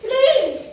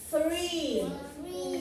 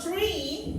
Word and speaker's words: three: Three. Miren, escuchen la pronunciación. Sacando la lengua. Three. Good job. Because if I say, si yo digo tree, es árbol. Tree significa árbol. El número 3 sería three.